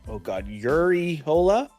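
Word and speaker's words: Urrejola: Fernanda, Uriola. The J's are pronounced like H's.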